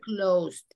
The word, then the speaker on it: closed: closed. Closed. Clocks. No closed. Closed. Clocks. Clocks. La E no se pronuncia, pero.